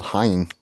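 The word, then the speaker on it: haüyne: They added way too many letters. It's just called Hein.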